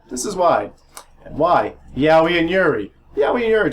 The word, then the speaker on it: Yaoi: Yaoi and Yuri. Yaoi and Yuri terms for anime manga with homosexual love stories. Yaoi, pronounced yaoi, is for males and is also known as BL or boys love.